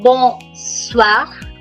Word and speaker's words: bonsoir: So, let me recall, we were on bonsoir. Yes, Ria, you're right. The R is pronounced, although we can count it as an exception.